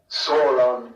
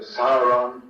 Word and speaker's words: Sauron: But in general, in my view, the only essential thing is to avoid outright errors, like Sauron instead of Sauron, Sildan instead of Kirdan, or wrong stressing, like Landrovar for Landrovar, and so forth.